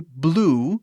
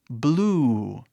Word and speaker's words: blue: Por exemplo, essa palavra aqui, blue, significa azul, azul. Mas a pronúncia não é blue, é blue. Vê como eu tô, tipo, esticando quase o som, assim?